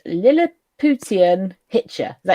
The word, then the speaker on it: Lilliputian: So then this leads into part 2, which is called Lilliputian Hitcher. Is that how you pronounce it? Yeah, the Lilliputian Hitcher.